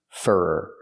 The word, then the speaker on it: for: She's waiting for for not for her, but for use the sound like burger two times. Fur.